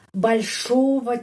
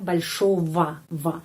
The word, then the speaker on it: большого: Di sini G, huruf G, pengucapannya V, ya, большого, большого. Kenapa? Karena sudah ada video 77 ya tentang kata-kata yang diakhiri dengan huruf OGO atau YGO, pengucapannya OVA, AVA, YEVA. Ya, huruf G kita mengucapkan seperti V.